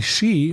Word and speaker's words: Hsu: it's yeah stephanie shoot it's spelled hsu and i had a friend in college with that name and it was pronounced she so i'm going to say stephanie shee no it's you that